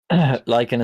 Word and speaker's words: lichen: Is it pronounced No, like it's just bitchin' with an L. Lichen is like, the moss.